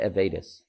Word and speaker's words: Avedis: that is is because when the avidas line or avidus however you how do you pronounce it I I would say avedis there you go me too yeah when